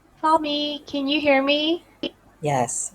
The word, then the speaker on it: Fahmi: Fami, can you hear me? Yes, yes. You pronounce it Did I correctly.